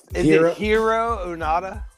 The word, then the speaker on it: Hiroo Onoda: Is it Hiroo Onoda?